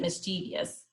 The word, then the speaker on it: mischievous: intelligent jealous lazy loyal mischievous or miss some people pronounce it mischievious proud quiet responsible rude